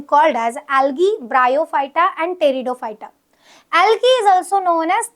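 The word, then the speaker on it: Pteridophyta: कौन सा है ब्रायोफाइटा थर्ड डिवीजन होता है टेरिडोफाइटा इसकी स्पेलिंग पी से स्टार्ट होती है बट प्रोनाउंस टी से रहेगा दैट इज टेरिडोफाइटा अब ये जो थैलोफाइटा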